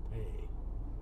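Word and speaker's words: פ: you all right hey some rabbis pronounce it but the source that i use says it sounds just like the word pay p-a-y you'd in a cough yes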